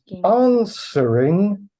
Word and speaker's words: answering: asking signific the word answering signif answering has a w but we don't pronounce the W not answering answering not